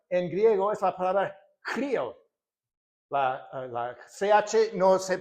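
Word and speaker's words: χρίω: Pero esa palabra en griego es la palabra crío. La la ch no se pronuncia en griego como sino que como Cristo, ¿no?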